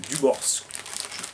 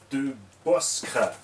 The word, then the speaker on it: De Boscre: J'en ai la preuve là puisqu'on a un abonné, Monsieur Dubors. D'ailleurs, je le prononce chaque fois de travers, son nom, c'est De Boscre.